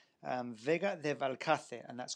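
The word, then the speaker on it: Vega de Valcarce: Um Vega de Valkcate.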